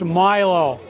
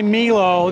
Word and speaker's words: Milo: sorry not Milo Milo if you come here and you see m l o on a green can it's pronounced Milo if you say Milo you'll know you're a tourist yeah let Hey when